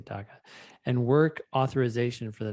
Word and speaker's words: DACA: approving her daca status is how you say daca and work authorization for the next two years